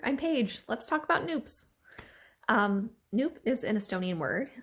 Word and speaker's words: nupp: Let's talk about Nupps. Nupp is an Estonian word. It's spelled N-U-P-P, pronounced like soup, and it means bud, like a little baby flower.